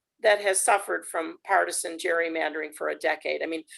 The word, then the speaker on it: gerrymandering: you who don't know we're all probably pronouncing it incorrectly because um the name gerrymandering came from a governor of massachusetts who his name was um gary so we should